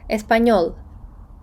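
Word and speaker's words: español: таким хвилечкою зверху стільної вона читається якось схожа на нь наприклад Аню рік Еспаньйол іспанський або Іспанець два звуки точніше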